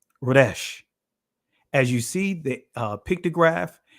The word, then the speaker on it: resh: In the Israeli language is pronounced Resh.